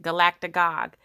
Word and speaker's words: galactagogue: That is how you pronounce it, Galactic Gog.